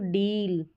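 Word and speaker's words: deal: अब यहाँ पर देखेंगे तो डील क्या है, डील और डिल, इस तरीके से उच्चारण में फ़र्क है, डील और डिल।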